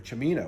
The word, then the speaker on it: Cimino: world a little bit I realized most people pronounced my last name as uh and then when I moved to an Italian place in Monterey California where there's a lot of Italian fishermen uh everybody said you're chamina why aren't you pronouncing your name right so one day I